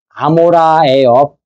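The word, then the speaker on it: עמורה: 뜻은 불탄 그런 뜻이고 고모라는 아모라예요. 히브리 발음을 제대로 하면 아모라.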